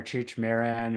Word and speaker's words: Cheech Marin: Cheech Marin? Cheech Cheech Cheech Marin or Cheech Marin or from Cheech & Chong.